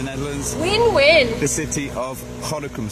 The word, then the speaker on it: Gorinchem: The city of Gorinchem, spelt... G-O-R, it's spelled Gorinchem. That's right. Gorinchem. But don't speak it like a Boutenlander. But you say Gorinchem. That's it. Speak it like a local.